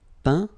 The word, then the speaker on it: peint: Peindre, peint. Teindre, teint. Okay, as usual, final T not pronounced. Atteint, éteint. Fin, peint, teint.